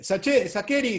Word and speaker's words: Sacheri: todavía más de vuelta porque yo antes lo pronunciaba shaker y empecé a tolerar primero y resignarme después al sacheri cuando mi apellido empezó a trascender en los medios porque